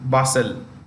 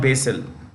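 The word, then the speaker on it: Basel: is in Zurich the other is in bustle not basil basil both are in Switzerland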